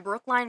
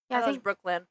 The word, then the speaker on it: Brookline: l i n e isn't it Brook no it's not l y n Brooklyn I think it's Brookline massachusett it's spelled line Brooklyn's in New York